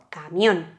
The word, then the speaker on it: camión: Por lo tanto, se acentúa y tiene el golpe de voz camión en la O y en la N, que es la última sílaba, y como termina en